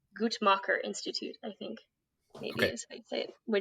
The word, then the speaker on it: Guttmacher: So I got some facts and figures from the, I'm going to say this wrong, Guttmacher Institute, I think maybe is how you say it, which is a pro-choice organization.